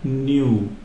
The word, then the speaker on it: nu: of that is called New this is pronounced new and it's it's actually